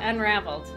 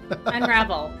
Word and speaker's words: Unravel: oh we're playing uh unraveled unravel no we've been saying it wrong it's so easy to say unraveled yeah but it is just unravel and the last episode